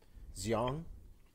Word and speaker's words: Xiong: Definitely made sure how do we pronounce her name? Xiong.